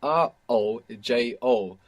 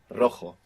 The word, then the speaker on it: rojo: though is I stay the word for red in Spanish is Rojo this is spelled r-o-j-o and J is in Spanish are pronounced like this Rojo and we have the initial R so if you can do it it will be the rolling are Rojo so how would you